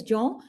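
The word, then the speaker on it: Jean: n j this is this is a French word so it's pronounced as johw and Mony m o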